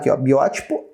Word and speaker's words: biótipo: oxítona penúltima paroxítona antepenúltima biótipo não é a última não é penúltima antepenúltima você já sabia é uma proparoxítona E é claro que